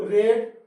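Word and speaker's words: read: आप अंग्रेजी पढ़े, यू रेड इंग्लिश। याद रखना, रीड, रेड, रेड तीनों फॉर्म होता है, लिखा एक जैसे रहते हैं लेकिन इसका जो प्रोनाउंसिएशन है, उच्चारण है, वो अलग अलग होता है।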